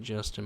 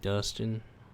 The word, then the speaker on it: Dustin: You said my name wrong. Justin is HTI Gaming, not my name ain't Justin, my name Dustin.